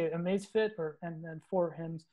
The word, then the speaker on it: Amazfit: Amazfit, or and then for him. Amazfit, yeah.